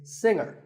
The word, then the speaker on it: singer: Another popular word with a silent letter is singer. The G is silent. Now, we say finger, we say the G. Younger, again with the G, but singer, no G.